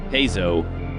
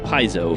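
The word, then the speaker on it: Paizo: interesting side note you correctly pronounce the word pzo although no pronounces it that way pzo is the Greek word for I play and that's the correct pronunciation in modern Greek everyone says piso for some reason oh what can I say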